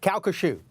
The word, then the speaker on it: Calcasieu: facility in your neighborhood, and I want to pronounce it correctly. Calcasieu. You're very close. Calcasieu.